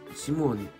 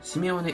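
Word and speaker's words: シメオネ: で、シモーネ、あ、シモー、違う、シメオネ、はい。シモーネって読んでしまった、これね。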